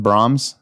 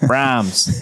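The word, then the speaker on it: Braum's: it uh b-r-a-u-m-s b-r-a-u why is that not Brahm Brom is that just an accent probably I've always said Brahms Brahms yeah Rams that's how we'd say in Michigan Brahms it's from go to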